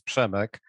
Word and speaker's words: Przemek: terrible for us, but short version of Przemysław is Przemek. And I know that this is always first question of my people who I talk, how they should pronounce my name. So it means the short version is Przemek.